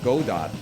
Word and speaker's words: Godot: as the Tweet said Godot rhymes with robot I'm bumping as if